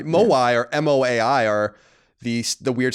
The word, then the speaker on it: Moai: That's spelled like Hawaii. Maui. Moai or M-O-A-I are the weird statues on Easter Island.